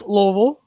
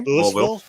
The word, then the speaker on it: Louisville: It's Louisville. Okay. Louisville. No. See, that's even worse. That's what I'm saying. That's not even saying Louisville. He's saying Louisville. The words. I mean, It's Louisville.